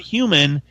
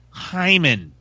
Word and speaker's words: Heuman: And she goes, before we get started, I'd like to let you know that my name is pronounced not human, it's Hyman.